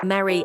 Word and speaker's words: merry: In fact, in American English, marry, merry, and Mary sound the same, while British English distinguishes between them.